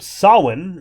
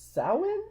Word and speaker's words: Samhain: And we get the word Samhain written on the wall in blood. Loomis. Sam Hain. That's not how it's pronounced, though. It's Samhain?